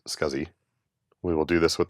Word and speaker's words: SCSI: And yes, it is pronounced SCSI.